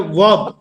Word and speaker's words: verb: Sir, I want to correct the verb, not verb. Okay. Pronunciation is Verb. Yes. verb, more verb, Yes. verb. Actually, Verb. in British English, R is hidden.